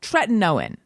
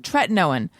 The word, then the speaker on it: tretinoin: the generic retin-a however i've recently learned it's tretinoin and no one mentioned this to me so i'm going to assume everyone else believes that much in my pronunciation or they'll drop the ball you guys i've been saying it wrong for a long time now tretinoin let every syllable have its moment tretinoin but anyway i've been